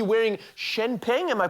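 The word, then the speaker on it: Chen Peng: Yes, Cardi B wearing Shenpeng. Am I pronouncing that correctly? Shenpeng.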